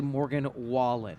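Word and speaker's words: Morgan Wallen: I could just for a second it's actually Morgan wallet a wallet see it's okay it's okay no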